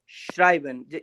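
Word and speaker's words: schreiben: इसके बाद यहाँ पर एक और शब्द आता है श्राइबन। यहाँ पे ई और आई आ गया ना तो ये आई बन जाएगा पूरा, ठीक है ना, ये हो जाएगा श्राइबन, श्राइबन, श्राइबन।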